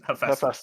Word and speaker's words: Hephaestus: How do you pronounce his name? Hephaestus? Hephaestus.